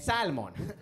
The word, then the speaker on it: salmon: in the country and salmon we're gonna have to deport you Sarah there's an L in there you have to pretend it's not there like racism okay